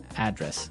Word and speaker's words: address: yeah and there are the stress is on the first syllable address right perfect very good okay